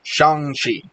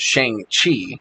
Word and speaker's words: Shang-Chi: talking about of course shangshi now apparently we've all been saying that name wrong for years because i thought it was shang chi saying it's not it's shang shi chang chi yeah okay